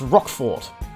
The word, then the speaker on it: Roquefort: was that one now it's Roquefort I've been told is the right way to say that and this is cheb